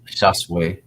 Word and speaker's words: Shasu: a little bit better Shu pronounced shase is a word that